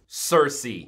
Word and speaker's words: Circe: it it ceases to amaze me it's amaz Cersei perfect I said it right yes and on